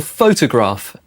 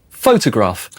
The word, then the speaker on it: photograph: Photo is short for photograph, and the stress is on the first syllable. Photograph.